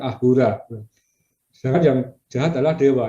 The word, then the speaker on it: Ahura: Ya, orang Persia tidak bisa bilang S, ya, sehingga Asura diucapkan Ahura.